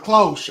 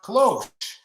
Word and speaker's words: cloche: So Planton says it's cloche, and it's a garden protective thing. Yes. There. Okay, cloche. Cloche. I was probably pronouncing that H a little hard, but it's okay.